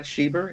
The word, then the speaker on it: Schieber: them all right my my name is sheber it's a b r t t s c